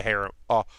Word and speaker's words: harem: Because it doesn't feel like it's going to be a harem or harem show, depending on how you like to pronounce it.